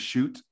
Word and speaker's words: Schutt: learned since Thursday that his name is pronounced shoot Jason we are not